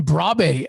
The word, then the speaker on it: Brobbey: Talk to me about Brian Brobbey, if I'm saying it correctly. What a talent, apparently. Brian Brobbey, yes, great striker.